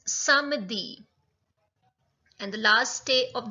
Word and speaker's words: samedi: It's samedi.